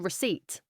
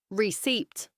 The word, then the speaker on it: receipt: Develop stress is on second syllable. Receipt. Sounding the P. Receipt.